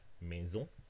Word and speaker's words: maison: And like in French, for example, the last syllable always gets the stress. Maison, for example.